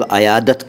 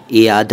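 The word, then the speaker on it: عیادت: बारे में पहले इयाद इसको अनेक लोग अयादत कहते हैं लेकिन सही उच्चारण इसका इयाद है उर्दू में अरबी से आया है और इसका मतलब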